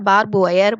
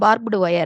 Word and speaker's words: barbed wire: இது சாதாரணமாக பார்த்திங்கன்னா பார்பு ஒயர், பாப் ஒயர், அதுக்கப்புறம் அது பார்ப்டு ஒயர் அப்படின்னு 3-4 விதமாக இதை சொல்கிறாங்க. ஆனால் கரெக்டாக பார்த்தீங்கன்னா ஃபஸ்ட்டு இருக்கிறது தான் பார்ப்டு ஒயர் அப்படிங்கிறது தான் இது கரெக்டான உச்சரிப்பு.